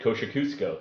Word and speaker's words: Kosciusko: industrial district across yeah my friends that live there always pronounced at kosher Cusco so cool wow I